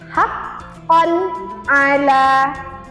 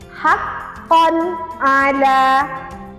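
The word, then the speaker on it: حَقًّا عَلَى: Contoh yang pertama ketika fathah tanwin bertemu huruf ain. Cara bacanya adalah haqqan ala. Sekali lagi, haqqan ala. Sehingga tanwin di sini kita baca jelas.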